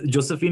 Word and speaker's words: Josephine: pinching myself to make sure i'm getting the pronunciation right yes josephine is the right pronunciation and the reason we